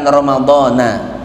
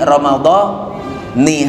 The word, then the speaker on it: Ramadhani: Makanya ketika niat puasa Ramadan dibacanya Ramadhani, bukan Ramadhana. Nawaitu saumagadin an ada ifar di syahri Ramadhani hadhihi sanati lillahi ta'ala.